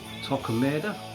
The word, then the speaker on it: Torquemada: Great songs like Bound to Hell, Torquemada, that's the correct pronunciation of that song.